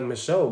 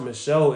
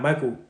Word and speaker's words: Michel: lot of money his name is is like Michelle bro it's pronounced Michelle in their in the Spanish language or some look it's not Michael I thought it was Michael yeah it's pronounced